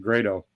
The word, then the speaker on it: Grado: grams interesting okay uh Grado or Grotto uh they pronounce they pronounce it Grado uh there they want